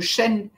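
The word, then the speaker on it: shen: a une énergie que l'on appelle le chêne et pas le chêne là l'arbre le chêne ça s'écrit s h e n qui est la notion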